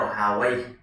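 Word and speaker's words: راهويه: Sibawai, Rohawai atau Rohawai di istilah di nama rijal al-hadis adalah rohuyah biasanya. Tapi di dalam kalangan ilmu nahwu, ulama-ulama nahwu, orang-orang nahwu, mereka membacanya Rohawai diakhir dengan kata waih.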